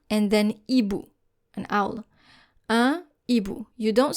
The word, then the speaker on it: un hibou: This means that we do not pronounce the liaison anymore. If you have, for example, two words, un and then hibou, an owl, un hibou. You don't say un hibou because our H is a consonant.